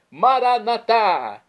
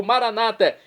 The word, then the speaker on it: Maranata: E agora eu clamo do aramaico dialeto de Jesus, Maranatá, como dizemos nós católicos, ou Maranata, como dizem nossos irmãos separados, os evangélicos ou protestantes. Não importa a pronúncia, o significado é o mesmo.